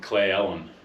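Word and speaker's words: Cle Elum: clay Ellen okay clay how do you say clay Ellen clay Ellen yeah nice it's just this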